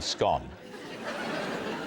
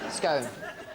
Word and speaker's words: scone: I ONCE CAME TO BLOWS WITH someone over the correct way to pronounce the word scone. You mean scone. Scone.